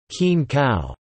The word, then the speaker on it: kin khao: As in many other rice-eating cultures, to say, eat rice, in Thai, khin khao, pronounced as khin khao, means to eat food.